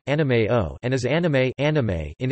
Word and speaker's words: anime: The pronunciation of anime in Japanese differs from pronunciations in other languages such as Standard English pronunciation, which has different vowels and stress with regards to Japanese, where each mora carries equal stress.